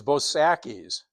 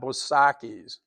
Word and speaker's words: Bosacki's: Um, it's it's I think it's a German influence in in Milwaukee and and Chicago, the way you pronounce an A.